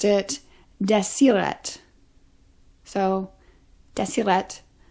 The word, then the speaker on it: Deseret: were writing in desire I have been saying deset and Deseret alphabet throughout this video it is the way people say that word today but they didn't say